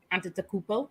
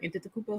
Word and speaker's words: Antetokounmpo: We have Giannis Antetokounmpo. Did I say it right? Antetokounmpo, something like that.